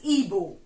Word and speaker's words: Igbo: You can find it Igbo, but it's pronounced as Igbo.